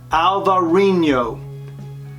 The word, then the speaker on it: Alvarinho: This grape is called Albariño in Spain and Alvarinho in Portugal. That's pronounced Alvarinho.